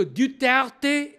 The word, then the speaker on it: Duterte: Alors, voilà, je viens de vous expliquer que Duterte est nom de famille français et la prononciation correcte en français, c'est Duterte.